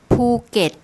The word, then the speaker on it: Phuket: So here we have the gorgai, the initial consonant on the second syllable, the vowel combination which makes an E sound, and then the final consonant is the do dao, which makes a T sound as a final consonant. So it's something like this.